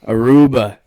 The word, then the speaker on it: Aruba: Today, we have a new guest from the island, the Caribbean, from Aruba.